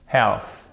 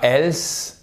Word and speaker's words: health: Health. Et c'est pas health. C'est pas else, c'est pas elf. Ok, comme la créature fantastique ou l'ancienne marque d'essence, si je dis pas de bêtises, ok, ou huile, etc. Enfin, vous m'avez compris. C'est pas ça. Health. En fait, c'est assez léger.